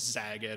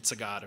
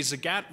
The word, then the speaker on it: Zagat: How many of you knew that Zagat is pronounced like the cat? Awesome. Yeah, they actually have that in a poster when you enter their office because nobody gets it right. It's always Zagat, or I thought it was the German pronunciation Zagat or something. But no, it's definitely Zagat.